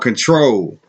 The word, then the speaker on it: CTRL: But this album is called Control. Control, and it's spelled CTRL, like on the keyboard.